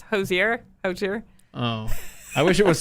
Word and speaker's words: Hozier: I feel like I'm going to say his name wrong. It's Hozier.